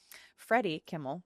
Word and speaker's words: Freddie Kimmel: Um Freddy Kimmel. Yes. Not Jimmy. Freddy.